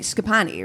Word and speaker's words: Schipani: our very special guest scapi right yes great I said it right you did yeah I'm